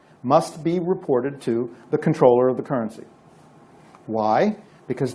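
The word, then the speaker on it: comptroller: It's pronounced controller, even though it's spelled with a PT in there.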